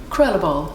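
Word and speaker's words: Krulle Bol: Krullerball is what I call it. Krullerball. But I'm sure someone who spoke good Flemish would pronounce it better, yeah.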